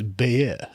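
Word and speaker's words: Bayeux: yeah yeah you do it's not the Bayou tapestry it's beer yeah I'm not gonna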